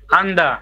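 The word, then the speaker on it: 앉다: নিউন আর জিউত আছে কোনটা উচ্চারণ হবে নিউন নিউনের উচ্চারণ হবে আন্দা প্রথমটার উচ্চারণ হবে এই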